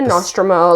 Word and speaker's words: Nostromo: I love the Nostromo.